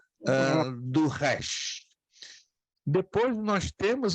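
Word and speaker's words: ר: O Resh. Shem. Resh. O Resh é pronunciado como R, não em português, mas em espanhol como rato.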